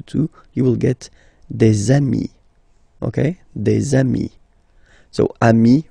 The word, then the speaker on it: amis: you will get des amis, okay? Des amis. So ami, remember, doesn't change. Even if you get to write the S, then you don't pronounce it, okay?